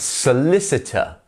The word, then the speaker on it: solicitor: we have solicitor solicitor remember that the s s and the C here are pronounced exactly the same way s solicitor so get that s sound even if you sound a bit like a snake s that's exactly how you should sound solicitor solicitor very good next